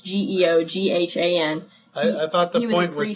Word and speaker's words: Geoghan: He's the guy, I think I'm pronouncing his name correctly. It's Geoghan.